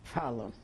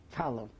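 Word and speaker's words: Falun: They called the place now where I live, Fallon. Now I got. The Larney is like Illinois, and Fallon is like Chicago. Fallon. Can you spell it? F-A-L-U-N. Fallon.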